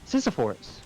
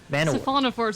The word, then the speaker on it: siphonophores: have an exception for Sisyphors. Siphonophores is how it's pronounced, by the way. It sounds closer to Sisyphus that way.